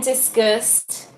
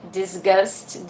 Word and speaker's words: discuss: you and we can discuss. It's a kind of pronunciation. I said disgust. Disgust is a bad word. Not a bad word. It's something bad thing, but it's not disgust. It's discuss.